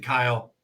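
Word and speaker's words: X Æ A-Xii: cameron on the screen elon musk's name isle or they pronounce it kyle what does that yeah that's pronounced kyle how do you get kyle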